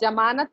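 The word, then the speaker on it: ज़मानत: अब मुझे बताएं, ये जमानत पे कहाँ नुक्ता लगेगा?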